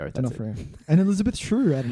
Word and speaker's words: D'Onofrio: D'Onofrio. D'Onofrio.